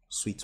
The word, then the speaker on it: Sui: So we already downloaded the SEO wallet, which is pronounced Sweet Wallet.